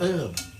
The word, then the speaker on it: herb: would never when it start the word herb was herb without the H. And at some point in history, the Brits added an H. And so they became known as herbs. However, the original pronunciation was herb.